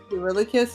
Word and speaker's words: Eurylochus: Eurylochus is still around. Okay, The way to remember his name is You Really Cuss.